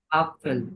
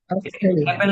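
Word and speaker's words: Apfel: আসছে আ তে কি হয় অ্যাপেল আপেল হয় আপেল আপেল অ্যাপেল না অ্যাপেল না অ্যাপেল না আপেল আপেল আপেল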